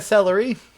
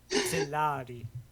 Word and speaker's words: Celari: Katerina Celery. No. Celari. Like Celnari. You are Duchess of the...